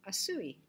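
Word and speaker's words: עשוי: When it comes into this passive participle, it turns into asui. And that's how that is pronounced. That's shirik with the u after it, asui.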